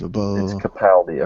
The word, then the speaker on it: Capaldi: recently learned is actually how his name is pronounced seriously his name is capaldi according to that one guy from the nerdist